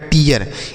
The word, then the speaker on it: tear: उसके बाद TEAR तो टी से टा पढ़ेंगे, EA का उच्चारण बड़ी की मात्रा के रूप में य लिखेंगे, आर से र लिखा गया टीयर। इसे हम टीर नहीं पढ़ेंगे क्योंकि हमने बताया कि डबल EA से बड़ी ई की मात्रा भी लिखते हैं, लेकिन अगर आर रहता है तो इसका उच्चारण EA के रूप में तो टीयर पढ़ेंगे। आगे बात समझ में बच्चों?